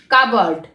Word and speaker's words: cupboard: এছাড়া আমরা বলতে পারি কাবার্ড। কাবার্ড কথার অর্থ হলো আলমিরা বা আলমারি, বলবো কাবার্ড। কাবার্ডটা দেখো আমরা লেখার সময় লিখছি কাপ বোর্ড, CUPBOARD, কাপ বোর্ড, কিন্তু যখন উচ্চারণ করব তখন বলবো কাবার্ড, উচ্চারণটা হবে কাবার্ড।